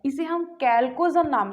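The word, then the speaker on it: chalcogen: किस नाम से, कैल्कोजन, या इसे कभी कभी जो प्रोनाउंसिएशन होता है चैल्कोजन भी कर देते हैं ना। तो स्पेलिंग देख लेना, कैल्कोजन, कैल्कोजन के नाम से जानते हैं, या चैल्कोजन भी कह देते हैं कई बार।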